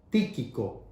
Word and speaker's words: Tíquico: En este caso, el mensajero que lleva las 4 cartas a las respectivas iglesias es el amado Tíquico, así como lo estoy pronunciando.